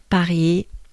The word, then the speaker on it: Paris: arena all right so paris again typical of the french language we do not pronounce the last letter here so here sorry so